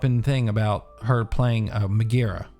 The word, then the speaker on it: Megara: And now Twitter's all up in thing about her playing Megara, right?